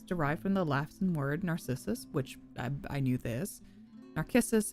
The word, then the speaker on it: Narcissus: Or Narcissus, because in the in Latin the C's are pronounced as K's, so it's a hard k sound. So it'd be Narcissus.